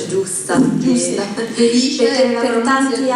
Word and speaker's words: Belice: La pronuncia giusta. Belice, perché la per tanti giusta. anni si è sentito del Belice, no?